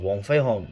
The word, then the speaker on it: Wong Fei Hung: the whole character of wong fei hong who i always pronounce like that because that's how they pronounce his name and uh usually i